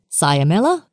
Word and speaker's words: cyamella: Next on our list, we will cover three with similar pronunciation: cyamella, fibella, and patella.